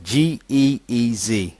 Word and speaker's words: Ge'ez: Geez. It's pronounced Ge'ez.